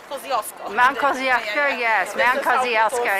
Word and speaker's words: Kościuszko: Nobody could pronounce Kościuszka outside Poland, so maybe you hear now about Kosciuszko.